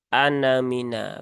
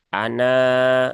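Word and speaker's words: أَنَا: sifir Ee mustatil ya Jadi kalau dia di ya di wasol maka dia dibacanya pendek anamina begitu kan Tapi kalau dia waakaf maka dia dibaca panjang Ana ya seperti itu itu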